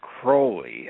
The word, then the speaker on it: Crowley: his name is pronounced crowy and we know that because he wrote a silly little poem and it rhymes with holy so he gave us